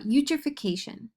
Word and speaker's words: eutrophication: pronounced U then tro the Phi sounds like f the ca sounds like K and the t o